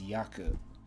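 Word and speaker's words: 躍: is to dance and the way they're going to pronounce this in the word is yaku kanji in this or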